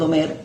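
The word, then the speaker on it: עומר: la cuenta del Sefirot Omer en la porción semanal Emor. Omer, que significa cuenta, y Emor, que significa contar o decir. Son las mismas letras, pero con pronunciaciones diferentes.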